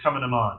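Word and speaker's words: Cumann na mBan: And then you get the Women's Organization, which is Coming 'em On, right? Which is not spelled as it's pronounced. Coming 'em On, but look it up online.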